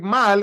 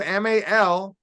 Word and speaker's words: mal: bien very good Mal now to pronounce the word like Mal m-a-l you have to make sure you hold that sound Mal IBU all right